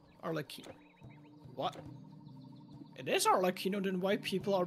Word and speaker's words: Arlecchino: What, also, what is pronounced the name of the latest character for Pool? Arlecchino. Arlecchino. What? It is Arlecchino, then why people are pronouncing her differently?